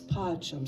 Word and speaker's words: pacem: And do that all 3 lines where you're putting just a little bit extra stress right on the first syllable only, okay? So dona, nobis pacem.